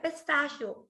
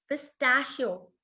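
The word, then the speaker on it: pistachio: नहीं, इसकी इंग्लिश होती है पिस्ताशियो। पिस्ताशियो, ठीक है। यहाँ पे शियो, शियो के ऊपर स्ट्रेस है, पिस्ताशियो।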